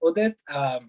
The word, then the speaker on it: Udit: Yeah, and I guess for me, as you may already know by now, my name is Udit. Some people pronounce it Udit because they can't get the U right.